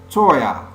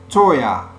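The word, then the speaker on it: teuer: moi c'est pour moi Toya Toya to on prononce ya à la fin du mot on nous dit pas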